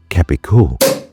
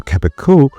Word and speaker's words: Cabécou: Depending on the Occitan dialect you're listening to, you might hear it pronounced differently. Cabécou in the Rouergue dialect, or Cabrio in the Rouergue dialect.